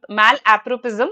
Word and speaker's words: malapropism: Coming to this one analogy malapropism malappropism that's how it is announced pronounced and malaprop was the name of a character Mrs.